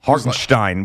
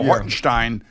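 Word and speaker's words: Hartenstein: iron Senate last night hogenstein which is also how Mike Breen says it yeah right right he was doing the whole the German thing well that's I think that's the way it's pronounced Stein that's the way he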